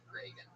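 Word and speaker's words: Regan: Not like Ronald Reagan. It's announced like Ronald Reagan. Pat Reagan, but there's no A in that. Follow him on Twitter at Reagan.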